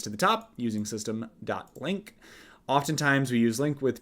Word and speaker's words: LINQ: should just see um is there a pronunciation to link link is what it it is okay we're going to pronounce it link from now on um